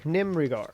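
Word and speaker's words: Nimerigar: Oh, let me make sure I'm also pronouncing that right. I have a pronunciation guide. Pronunciation guide. Nim Nimrigar. Definitely. The Nimrigar are pretty much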